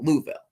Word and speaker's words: Louisville: Is it Louisville? Is it Louisville? But it's pronounced Louisville.